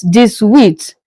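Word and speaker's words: dix-huit: 18 in French is this width.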